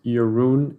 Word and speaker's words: Jeroen: it shows you care my first name is pronounced your roon in case you were wondering maybe when you just read it for more about yarun a link to a